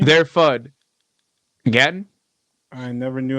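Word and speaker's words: Gaten: Gatton.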